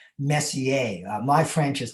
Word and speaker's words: Messier: It's actually pronounced more like Messier.